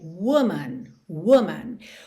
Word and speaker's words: woman: A palavra mulher, uma só, no singular, é woman, woman. O que muda na realidade é a segunda sílaba.